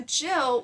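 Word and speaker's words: gill: a man in quote a jill which is actually spelled with a g is about one quart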